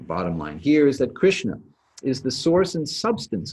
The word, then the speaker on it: Krishna: by the dot under the s and the n is a little bit back in your mouth not right up behind your teeth so krishna as opposed to krishna would be how you would pronounce that okay i'm going to